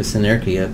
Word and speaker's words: Senerchia: I changed it back to Senerchia because I like to be a pain in the ass, and because that's how an Italian would say it.